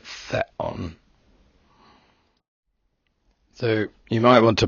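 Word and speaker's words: θεόν: Remember, this is not theon, it's not a long E sound, but theon.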